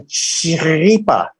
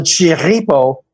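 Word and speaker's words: Chirripó: So right behind me, you see El Chiripa or El Chiripo, which is the local pronunciation for a big-ass mountain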